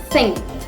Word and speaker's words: think: Word number 11, think. Please do concentrate on my pronunciation. Think. We actually emit a th sound at the starting. So emit th sound at the starting and then ing.